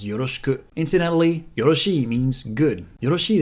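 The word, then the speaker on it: よろしく: Here, the e sound can be devocalized, so yoroshiku becomes yoroshiku.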